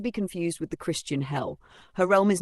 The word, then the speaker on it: Hel: Hello. Introduction. Who is hell? Hell, pronounced hell like the English word, is the Norse goddess of the underworld, not to be confused with the Christian hell.